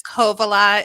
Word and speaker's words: Kovala: It's Kovalea. It's fairly It's just the emphasis of the beginning syllable. So Kovalea.